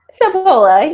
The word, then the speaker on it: Sapola: I should have asked you, how do you pronounce that? Sapola or Sapola? Sapola, you got it.